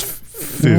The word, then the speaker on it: Fuchs: I almost said Fuchs. I almost did the U in the other pronunciation. I was like, stopped. I was like, it's Fuchs. Wait.